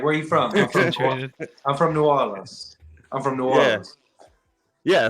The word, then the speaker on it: New Orleans: tell y'all so uh most folks um they pronounce it New Orleans which is not the correct way to say